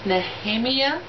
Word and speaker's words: Nehemia: But I'm going to go with Princess Nehemia. That's how you pronounce her name.